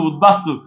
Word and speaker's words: উদ্বাস্তু: আমি আবার বলছি, উত উপসর্গ দিয়ে গঠিত শব্দের তয়ের স্থানে দ, ওই দটা যদি ব হয় ওই বর উচ্চারণ ঠিক থাকে।